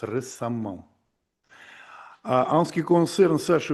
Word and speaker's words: récemment: En ce qui concerne de petits inconvénients, Katia, ma parole, oui, et récemment, on prononce récemment.